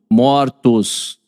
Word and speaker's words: mortos: Pronúncia fechada no singular, aberta no plural.